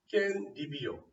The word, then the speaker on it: 깻잎: 앞에 글자 받침이 그드분데 뒤에 니은이 왔잖아요. 비음화가 일어나겠죠? 그럼 뭐가 되겠어? 깻잎이요. 이게 최종 발음이죠. 뭐 있어? 교체 중에서 비음하죠. 그럼 잘 보세요. 맨 앞에 깻잎하고 맨 마지막에 깻잎하고 발음했을 때 비교했을 때 뭐가 달라? 여기 있는 니은하고 여기 있는 니은 소리가 더 생겨나는 거죠. 그래서 뭐라고 말하는 거야? 니은 소리가 더 난다.